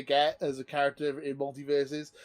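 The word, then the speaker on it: MultiVersus: I've been playing Multiverses, or Multiverse. Yeah, that's how it's pronounced, Multiverse.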